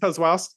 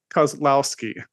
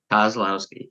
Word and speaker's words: Kozlowski: Kozlowski. I blew it. See, I said it beforehand. 3 syllables got me. Kozlowski. Kozlowski, yes.